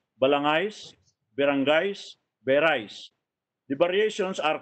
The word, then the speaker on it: Balangay: That's the first time that the word Balangay, although he spelled it as Balanghay, but H is silent, because they didn't have this diacritical mark at the time. When H follows a G, the G should be pronounced as ga, not as ja.